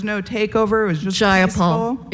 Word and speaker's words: Jayapal: takeover it was just jayapal if you're gonna say my name please say it right it's jayapal jayapal do you would you